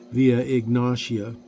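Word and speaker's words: Via Egnatia: located on the vien via anasia VIA anasia the main Highway through the Asian part of the Roman Empire some people might pronounce that via ignasia tomato tomato right the city was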